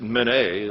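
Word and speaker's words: Minié: It was invented by a guy named, you probably pronounce it Minie. I think it's M-I-N-I-E, accent on the E.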